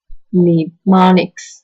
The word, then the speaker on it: mnemonics: Mnemonics, the initial M is silent, are clues of any